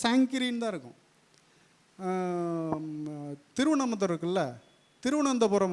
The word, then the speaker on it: திருவனந்தபுரம்: தான் இருக்கும் திருவனமந்தூர் இருக்குல்ல திருவனந்தபுரம் வந்து திருவனந்தபுரம்னு ஆங்கிலேயனுக்கு உச்சரிக்கு வராது ட்ரிவேண்ட் அப்படின்னா திருச்சிராப்பள்ளி இருக்குல்ல திருச்சி